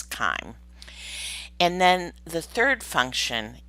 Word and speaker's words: chyme: what we call chyme spelled with a y i think there are a couple places later where it is misspelled as chime but it's kind and then the third